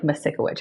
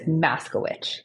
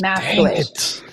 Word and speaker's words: Masikewich: It looks like Masikewich, how it's spelled, but it's Maskewich. So the I is silent. Maskewich.